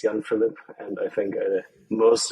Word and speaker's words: Jan-Philip: always shortened to JP because really it's young Philip and I think the